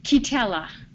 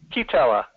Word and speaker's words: Kaakiitela: Kitella. Kitella. Okay. It reminds me of hazelnut chocolate spread.